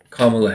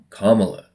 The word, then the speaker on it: Kamala: For years since I've heard of her first, it's always been, oh yeah, that's Kamala Harris. And then, as she gets closer to the White House, it's like, no, no, no, no, it's Kamala. You have to say it right.